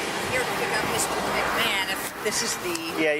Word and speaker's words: McMahon: McMoan. McMahon. McMahon. McMahon. Even though it's spelled M.